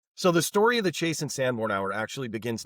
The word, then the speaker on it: Chase and Sanborn: Is it Chase and Sanborn, or is it Chase Sanborn? Chase and Sanborn Coffee. I have been saying it wrong this entire time.